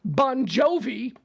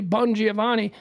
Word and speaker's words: Bongiovanni: bungiovanni is uh well other people pronounce his last name Bon Jovi uh but it's actually bungiovanni look at him dude